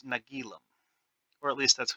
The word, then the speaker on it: Nagilum: monster that devours entire Starships how is it nalum stupidity that caused it we don't know actually I just realized that I'm pronouncing it wrong it's nagilum or at least that's how the script says